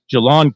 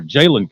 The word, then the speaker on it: Jalon: He's the brother of the Gamecock standout safety Jalon Kilgore, or Jalen Kilgore, if you want to pronounce it correctly, which I probably should try and do.